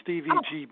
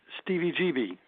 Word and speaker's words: Stevie GB: It's not Stevie GB. It's Stevie GB. Like, remember CBGBs in New York City?